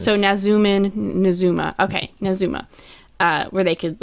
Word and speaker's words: Nazumah: He does say it in his quote, so we have actual pronunciations. So Nazumah.